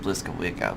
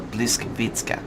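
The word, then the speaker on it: Błyskawica: Americans say just Bliskawicka, but I call it the Bliskavitska.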